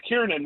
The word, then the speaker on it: Kieran: Um, and if you can't pronounce my name, it's Kieran when you're trying to do your uh, social studies.